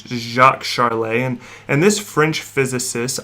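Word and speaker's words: Jacques Charles: named jacques charley and if i didn't look at the pronunciation for this man's name i probably would have said jax charles but it jacques charlay and and this french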